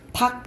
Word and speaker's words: 닭: 닭 이렇게 발음하잖아요. 이거는 리을이 탈락하잖아.